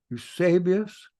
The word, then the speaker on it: Eusebius: Note how I pronounce that. Eusebius.